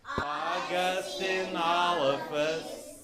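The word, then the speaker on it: Augustynolophus: So you put it all together, it's Augustinolophus Morrissey.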